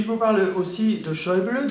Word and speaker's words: Schäuble: Et si je vous parle aussi de Schäuble, dont les Français n'arrivent pas à prononcer le nom, et où le tréma sur lequel le tréma se place sur le A et non pas sur le U, eh bien, c'est un double titre.